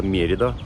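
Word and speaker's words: Mérida: Вернее, не Мерида, Мерида, как правильно указывает ударение на всех знаках и на всех картах.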